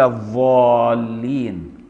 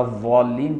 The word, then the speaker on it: الضالين: لكن لو قراها ضاء صافية ولا الضالين كده تبقى ضاء مشالة، دي تبطل. ولا الضالين هي كده. أو قال الضالين بالضاء المشالة بدل الضاد، أو قال المستئيم بالهمزة